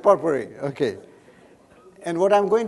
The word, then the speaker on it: potpourri: never spoken before so i asked my daughter to be knife her is beneficial here how to pronounce it so pot worry so she said she said potpourri okay and what i'm